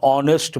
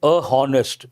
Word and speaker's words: honest: In this context you have to think of an honest man. A lot of people say a honest not correct an honest man.